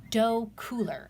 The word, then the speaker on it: Docooler: of this is the dough cooler I think I'm pronouncing that right I'm phonetic I'm a reading tutor so you know I pronounced it as dough as do c ool er so this is a